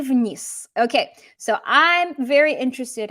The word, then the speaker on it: вниз: Notice вниз has a Z on the end, but what do we learn? Do we pronounce this as an actual Z?